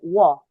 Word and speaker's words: walk: Walk. Yeah. We don't pronounce the L.